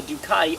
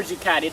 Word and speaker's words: Ducati: Alright, now this bike is a Ducati, or Ducati, depending how you wish to pronounce it.